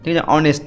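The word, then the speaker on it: honest: প্যাচা দেখেছো নাম্বার চার mister Sen ইজ ডশ অনেস্ট ম্যান এখানে দেখো এইচটা কিন্তু কনসন্ট তব এর আগে এন হবে কারণ এইটা ভালের মধ্যে উচ্চারণ হচ্ছে ভালের মধ্যে সাউন্ড হচ্ছে অনেস্ট উচ্চারণ হচ্ছে তার জন্য এন হবে মিস্টার সেন অনেস্ট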